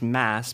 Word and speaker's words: Mads: yeah I know for I know for a fact that it is mass because he's in various magazines that he'll say it's like Chris mass or Christmas it's not the D is silent that is for certain